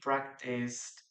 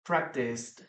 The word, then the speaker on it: practiced: Okay, we don't pronounce the letter E, please remember. Keep that in mind. Keep practiced. Letter D, practiced, practiced. Perfect.